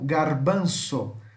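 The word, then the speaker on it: garbanzo: Grão de bico é traduzido como garbanço. Garbanço, tá? Garbanço. O Z tem som de S. Garbanço, ok?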